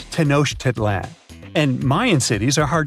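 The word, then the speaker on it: Tenochtitlan: It's Tanosh Titlan. And Mayan cities are hard to pronounce, too.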